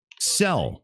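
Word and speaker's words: Zelle: do with money um sell okay pronounced like cell okay thanks Jay MJ yeah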